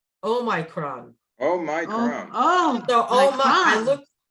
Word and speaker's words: Omicron: And they have it, it's perfect because it's oh my, like oh my, Oh my. oh my, oh my, Omicron.